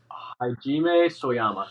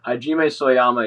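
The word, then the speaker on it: Hajime Sorayama: Like so, I gotta like look his name up to fucking spell it right. It's like Soyama. He just did like he's a Japanese artist. Hajime Soyama.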